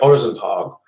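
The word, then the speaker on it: Øresundståg: Swedish. Or, yeah, Orezentag. And in Danish, it's Orsental, even though it's spelled identically, except the O has a line through it. Orsental.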